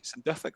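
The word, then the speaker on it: St Duthac: St. Duthic, that's how you pronounce it.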